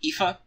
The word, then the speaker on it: Aoife: And there's also Scathach's rival and sister, Aoife, and yes, that is how you say that.